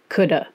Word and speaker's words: could: How did they end up with that silent L in there?